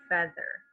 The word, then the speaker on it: feather: Here it's saying the sound eh, a short E sound, feather, like bread.